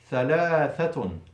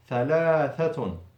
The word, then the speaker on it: ثلاثة: So twice the tongue out, ثلاثة, ثلاثة.